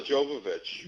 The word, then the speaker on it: Jovovich: And tell me about, I did not realize you were in Resident Evil Extinction with Mila, Yo, jo, pronounce her name, Oh, Mila Jovovich.